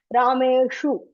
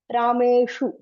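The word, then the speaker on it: रामेषु: And this also, this shu also everybody gets confused. Rameshu. So the tongue should be little bit front. Rameshu.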